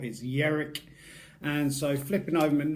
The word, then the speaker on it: Jerk: or Viking Derek and it's not pronounced jerk even though it looks like jerk it's not as Jarek and so flipping over